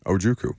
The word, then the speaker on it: Ojukwu: He made the Beast, and it has the pronunciation in there. Okay. John Ojukwu. Ojukwu. Okay. OH-JOO-KOO.